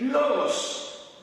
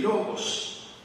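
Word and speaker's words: λόγος: Pues viene de una palabra griega que se pronunciaría más o menos así, logos. Y algunas traducciones lo ponen así, como el verbo, y otras traducciones lo ponen como palabra.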